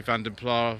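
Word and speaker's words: Vanden Plas: I do say Vandenpla rather than any other variation because that's the way that the advertising for Austin Rover used to say it in the 1980s. Other pronunciations are of course acceptable.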